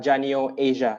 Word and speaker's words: Janio Asia: He lives in the intersection between tech, UX, business, and is currently a product owner at Janio Asia. Did I pronounce that correctly, Hazrul?